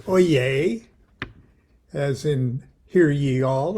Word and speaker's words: oyez: our lodge haru raja lodge periodical our journal oh yes now we call it i know it's pronounced oye as in hear ye all or attention but